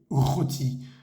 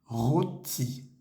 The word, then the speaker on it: rôti: Y la palabra roti, con ese acento circunflejo sobre la O, se dice roti, roti.